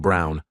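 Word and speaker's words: Braun: And I reminded her of the historical figure, Eva Brawn, pronounced Brown, wife of probably one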